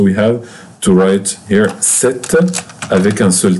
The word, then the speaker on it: cet: Here we have to add t for ce, to be set. To be set with one t. Pay attention, we pronounce this set like this exactly. Set with double t.